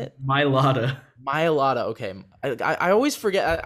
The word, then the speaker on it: Mailata: Mailata. Mailata, okay. I always forget. I forget where the like H, like the ha sound is.